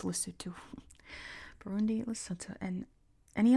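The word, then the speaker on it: Lesotho: Bindi loto, which he mispronounces it's lutto. I always say it correctly now because I I can't not say loto, but he says loto. It's pronounced lutu.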